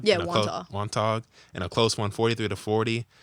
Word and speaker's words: Wantagh: So you guys lost to, I don't know how to say this name, Wantagh? Yeah, Wantagh.